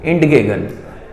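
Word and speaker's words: entgegen: तो इसमें capital E stands for इंडगेगन, ठीक है, इसको जो प्रोनाउंस किया जाता है वो इंडगेगन, ठीक है, ऐसे लिख भी सकते हैं इंडगेगन, इस टाइप से लिख सकते हैं इंडगेगन।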